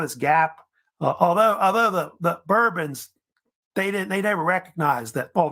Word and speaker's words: Bourbon: However, if you know about it, the French don't pronounce it that way. They say it Bourbon, by the way. But in the United States, they start saying Bourbon because of Bourbon County, which is up in Kentucky, where they started making bourbon whiskey.